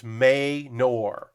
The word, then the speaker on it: Manor: Okay, so Bexar is Bear, and Manor is Maynor.